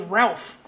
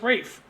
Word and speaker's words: Ralph: I used to say his name was Ralph because that's how we would pronounce it if we were Americans would be Ralph. And but he's Welsh, so it's Rafe.